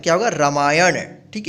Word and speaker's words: रामायण: देखिए यहाँ पे अण का उच्चारण हो रहा है ना, रामायण। ठीक है, अगर कोई बोलता है लिखिए रामायण, तो आप नाम लास्ट में मत लिखिएगा। ठीक है, ध्यान रखिएगा, अण ही होगा, रामायण।